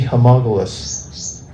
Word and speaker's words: homologous: bhakti and abhakti, be homologous? Homologous. Homologous, yeah, I said it right the first time, having the same relation. Homologous. Like analogous, but homologous.